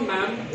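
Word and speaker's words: ma'am: अब इसी तरह एक वर्ड होता है MADAM, तो इसको हम मैम बोलते हैं। तो ये DA यहाँ से काटा जाता है तो फिर हम क्या कहते हैं, मैम।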